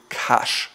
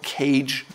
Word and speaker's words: cache: read into the word cache it's not called cage or anything else it's called cache thirty if you read